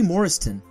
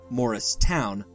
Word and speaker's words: Morriston: girl and she wasn't Judy Morriston or morrist town as some mistakenly pronounced it was perceived as average